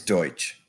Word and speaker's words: Deutsch: land in the West these Germans became known as the Pennsylvania Dutch which is a mispronunciation of the German word for German that word is Deutsch America was already a